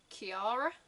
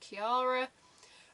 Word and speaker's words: Kiara: have I want to say it's Kiara it's like Kira with like an additional ra so like Kiara on keyboard you have